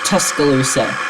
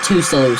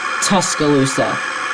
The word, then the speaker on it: Tuscaloosa: the way I found out it it's actually pronounced Tuscaloosa it's not taloa Tuscaloosa City where um University of Alabama is all